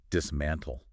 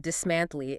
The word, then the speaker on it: dismantle: And finally, dismantle. The pl at the end is tricky for Portuguese speakers. They want to add a vowel. It's not dismantly. It's subtle. Dismantly. Think of the word little.